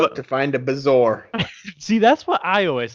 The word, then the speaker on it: bezoar: to find a Bazoar. See, that's what I always thought it was. It's a Bezoar.